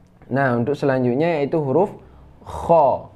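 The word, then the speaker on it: خ: Masih tenggorokan di tempat yang sama keluarnya, itu kha. Ya, tenggorokan atas ya, adna paling atas. Itu kha, cara bacanya bunyinya kha khi khu bakh khu khan khani khakhna minal mukhni makhi khan khani kha. Nah, dia itu agak getar ya.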